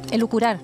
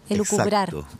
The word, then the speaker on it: elucubrar: Elucurar. ¿Me dijo? Elucurar. ¿Perdón? Elucurar. Lo dije mal. Sí, me faltó la B. Elucubrar. Exacto. Es elucubrar. Sí, está mal pronunciado.